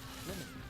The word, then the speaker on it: Lemony: Oh, Lemony. Rhymes with Jiminy. Lemony. Like that.